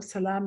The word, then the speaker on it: Selam: Salam is how we say hello in Ethiopia, SELAM. Some places it's spelled SA.